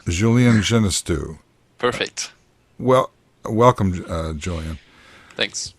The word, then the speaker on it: Julien Genestoux: Hey, Julien Genestoux is the pronunciation. Julien Genestoux.